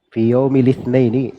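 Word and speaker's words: في يوم الاثنين: Fi yaumi litnaini itu bacanya fi yaumi litnaini. Dibaca lamnya lisnini sama dengan ayat ba lismul fusu badal iman. Iya dibaca seperti itu supaya timbangan syairnya ee tepat.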